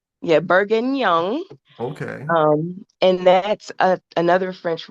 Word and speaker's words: bourguignon: How you say that? Another fun word, Yeah, bourguignon. That's definitely, bourguignon. yeah, bourguignon.